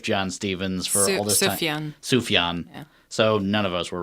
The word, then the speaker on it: Sufjan: cavity here's a joy to the world by soo Yeon Stevens did I I say that right I think I've been I think I've been pronouncing its oof John Stephens for a yen Sufjan so none of us were right and by